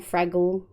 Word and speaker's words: Fraggle: Apple would be the closest word. Apple. Fraggle.